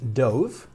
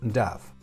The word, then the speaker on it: dove: No es dove, que era lo lógico si hubiésemos seguido la primera regla que hemos dado, sino en este caso es dove.